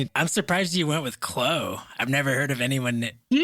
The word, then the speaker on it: Chloe: And actually, I just I realized I've uh through the email uh my name is pronounced Chloe, so the e you say.